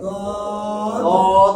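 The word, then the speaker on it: ض: দদ সদ সদ দদ দদ উচ্চারণ করলে জিহ্বার একেবারে গোড়া উপরের বাড়ির দাঁতের গোড়ার সঙ্গে লাগিয়ে বলবেন দদ দদ দদ গায়রিল মাগদুবি আলাইহিম ওয়ালাদ-দাল্লিন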